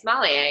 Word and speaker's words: sommelier: It's sommelier. You're right. See, I'm good. Kind of sounds like Somalian to me, like sommelier.